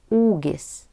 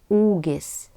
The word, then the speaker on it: ūgis: It is pronounced long U. Height, ūgis, ūgis.